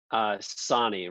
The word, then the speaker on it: Sonne: Sonny rhymes with John.